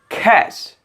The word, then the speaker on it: cache: correct one of course it will be the cash cash cash that means gupta funder number four